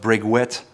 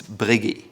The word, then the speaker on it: Breguet: It's not Breguet, it's Breguet. Then there is Chopard.